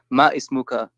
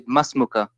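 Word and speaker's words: ما اسمك: Yeah, but you know, imagine when you say masmuka, then you say it like not ma ismuka, but you say masmuka or masmuki.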